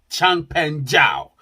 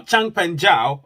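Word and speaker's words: Changpeng Zhao: uh obviously the co-founder of binance he's called Champion Zhao now Chang pan Zhao uh you know also affectionately known as CZ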